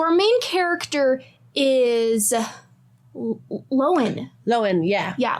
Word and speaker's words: Lowen: Loen. Yeah. Yeah. Loen. Like a lion. Not spelled like a lion, but Loen.